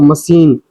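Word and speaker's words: machine: जैसे कि मशीन बीच में आपको सीएच दिख रहा है। तो मशीन यहां पे सा का साउंड निकाला। ठीक है?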